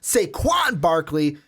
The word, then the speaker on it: Saquon Barkley: got to say in the intro, said his name wrong, going to say it right this time, Saquon Barkley is who we're talking about.